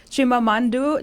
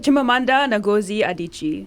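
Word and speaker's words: Chimamanda Ngozi Adichie: to i'm going to say her name right chimamandu chimamanda nagozi adichie well done yeah she's all done she's african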